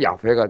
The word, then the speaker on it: 야훼: 그리고 이 크리오스를 히브리 말로 거꾸로 역번역을 하게 되면 야훼가 돼요. 야훼. 우리 말로 이제 여호와라고 번역을 했는데 그건 좀 잘못된 발음이고 야훼가 됩니다. 야훼.